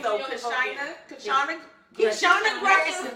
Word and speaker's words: Kyshona: Kishana Gresham. Spell it. KYSHONA Gresham, GRESHAM is in Mary, not Yes. N, because you know I can be a little country family. So it's Kishana Gresham.